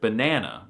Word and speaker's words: banan: First, in Swedish, there is accent one, and this goes from high to low. So, the first syllable has a high tone and the second has a low tone. This is the case for the word banana which is therefore said like banan.